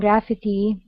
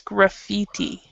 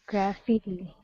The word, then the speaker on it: graffiti: have that have a lot of vandalism and graphity however there are other parts in my country